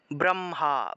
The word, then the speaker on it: ব্রহ্মা: ঠোঁট লাগিয়ে ব উচ্চারণ ব্রহ্মা ব্রহ্মা এই যে ব্র উচ্চারণ করতেছি না ব্রহ্মা ব্রহ্মান্ড এই ক্ষেত্রে ব এর উচ্চারণটা বর্গীয় বর্থাৎ বটাকে ঠোঁট লাগিয়ে ব উচ্চারণ করতে হয় আর যখন আমরা অন্তস্থ